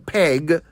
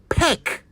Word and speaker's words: peck: So please, you have no further excuse for saying peg when you mean peck. Peck. That is how you say it right.